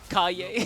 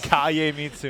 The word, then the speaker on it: Kagemitsu: Kaye. Kagemitsu, The man. G is silent. The G is a Y.